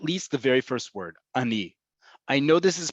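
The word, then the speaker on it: אני: hoping it's at least the very first word Ani I know this is pronounced Ani because there is no other word in Hebrew that's spelled alef noon and it's pronounced Ani there is a word that sounds similar Ani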